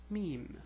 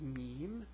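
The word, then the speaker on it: ميم: help so the next letter is the letter mem which is equivalent to the m it's pronounced M and the name is mem and the way you write it is like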